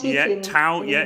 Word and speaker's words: Tau: Is it how you pronounce it? Yeah, Tau.